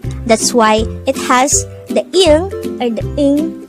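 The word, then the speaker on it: 이응: Ieung could be divided into 2 syllables. Ieung. The first syllable is just the sound of e with an ieung on the first position. And since it is on the first position, it has no sound.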